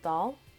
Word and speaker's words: Dahl: was The BFG yep Roald Roald Dahl well doll I guess that's how you say it in this book it's